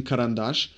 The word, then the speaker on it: карандаш: And we got emphasis falling on a in карандаш and on in это.